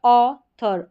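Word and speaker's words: author: और टी एच बाकी जो स्पेलिंग्स रहती है, जैसे कि ऑथर है, यहाँ पर इसको थ करके पढ़ा जा रहा है।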